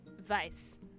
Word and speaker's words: Weiss: That's how you're supposed to pronounce it. You're supposed to It is Weiss. like V-I-C-E, Yeah. same sort of pronunciation. It is Weiss, yes. It is a German and Jewish surname.